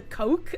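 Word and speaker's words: Koch: I I always pronounce co k o c h but I think it's supposed to be the coke brothers but like [ __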